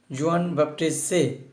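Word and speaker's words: Jean-Baptiste Say: ফরাসি অর্থনীতিবিদ জোয়ান বাপ্টিস্ট সে, it's a French word, that is a pronunciation should be জোয়ান বাপ্টিস্ট সে।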